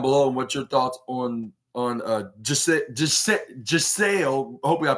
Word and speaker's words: Giselle: what your thoughts on Giselle. Hopefully I pronounced that right. I accidentally called her Gissel, which I thought it was with a G rather than